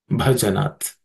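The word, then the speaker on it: भजनात्: Um, in terms of pronunciation, Avyavritta, no aspirated consonants, but bha, this bha is the fourth letter in the pa class of consonants, pa varga consonants. It has to be aspirated.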